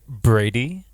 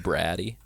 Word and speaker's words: Brady: Thank you, Brady. It's That's pronounced, it. it's pronounced Braddy.